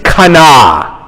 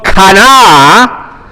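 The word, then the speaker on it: קנא: And the word is kana. Can you say kana? And it's almost like, you know, Ben's theme was the Hulk. And you almost have to say it like the Hulk.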